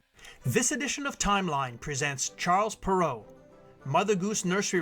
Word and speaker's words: Charles Perrault: edition of timeline presents Charles perau Mother Goose nursery rhymes and brothers Grim fairy tales Brothers Grim the birth of French author Charles perau pronounced in French as Sha pero is situated on the